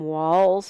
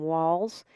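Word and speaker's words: Walz: the campaign Trail Tim Walls is how you say his name the Z Sounds like an S Tim Walls I know a lot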